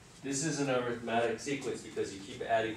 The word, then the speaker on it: arithmetic: Okay, so the first sequence that we learned in Algebra 2 was the arithmetic sequence. Now, it looks like arithmetic, but it's pronounced arithmetic.